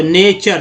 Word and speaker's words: nature: सोचा नहीं भाई कि ये TU से जो है च का उच्चारण हो जा रहा है, टी से च का उच्चारण हो रहा है। आप सोचिए, यहाँ पर टी से च बोला जा रहा है, टी से TU का मतलब च है, यहाँ पर च है ना, तो नेचर, तभी तो बोल रहे हैं।